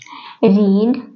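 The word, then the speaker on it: read: কেম play play এর second form হবে played রিড রিডের second form বানান কি থাকে কিন্তু প্রোনাউন্সিয়েশনটা হয়ে যায় রেড okay right W আর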